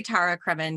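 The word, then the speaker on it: Tara Cremin: Anyway, I say Tara Kremen just because Tara.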